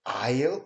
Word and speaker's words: aisle: Would you prefer aisle or window seat? 자, aisle. 여기 SES는 묵음이에요. 그래서 aisle이에요. aisle.